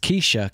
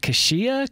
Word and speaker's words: Keyshia: Kesha Joe confirmed that her name was actually pronounced Kesha cuz I was like is it not kashia Kaya my he's like no it's Kesha I know this I I I couldn't tell